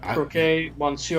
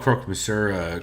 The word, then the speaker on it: croque monsieur: Wrong, but croquet, monsieur or madame. Wow. You just call croque monsieur croquet monsieur?